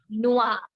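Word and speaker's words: noir: gray color next is black color which is pronounced as Noah NOA no now our sound will come at the end in the masculine version as well and pronunciation Remains the Same throughout the masculine feminine plural singular no I must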